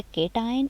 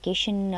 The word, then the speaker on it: cation: Some students are even pronouncing it wrong, like केशन और एनियन, कुछ अजीब सा प्रोनाउंस भी कर रहे होते हैं, प्रोनाउंसिएशन को भी ठीक कर लिया करें। केटाइन, CAT, कैट से निकला है केटाइन, एंड एनाइन।